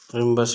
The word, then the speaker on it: rhombus: रिम्बस spelling जो है देख लेते हैं, RHOMBOUS रिम्बस इसको बोलते हैं।